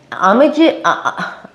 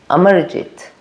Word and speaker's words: Amarjeet: But in Amij I said his name wrong. Amarjit.